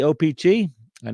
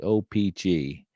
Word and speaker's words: O-Pee-Chee: printed on the back I say op I know there's some people that say OPI uh or opj I don't know that sounded weird but I stress every uh syllable equally OPG you know me let's